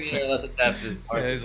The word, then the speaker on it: Nyarlathotep: He was Nyarlathotep was originally called internally by David Nargle Bargle. Because he couldn't pronounce. Saying Nyarlathotep is hard.